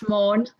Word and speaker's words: Maughan: Is that how your name's pronounced? Maughan, is that right? It's Maughan. Maughan, there we go. Yes. It's my flat Manchester vowels, you see.